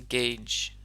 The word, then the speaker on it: gauge: That first one is pronounced gauge.